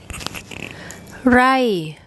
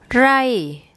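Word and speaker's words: ไร่: So we have the short I again, and then an R consonant, and swap those round for pronunciation. Rai, rai, rai. So you see there the two vowels that we did today have exactly the same sound, that short I.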